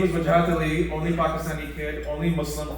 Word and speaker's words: Wajahat Ali: Wajahat Ali. 3 syllables.